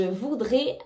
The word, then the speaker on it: voudrais: Je voudrais acheter une nouvelle maison. Attention, ici on ne prononce pas le S.